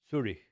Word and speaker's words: Zürich: So So in German, letter Z is pronounced as T, and CH is H. So Zurech is Zurich. Zurich. Actually, Z and then U with 2 points about.